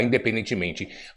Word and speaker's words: independentemente: Ou infelizmente, independentemente, na palavra independentemente, vamos colocar independentemente, qual é a sílaba tônica? É men, né? Independentemente, né?